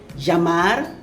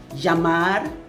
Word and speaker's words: llamar: Llamar, I pronounce it llamar because double L actually sounds like Y.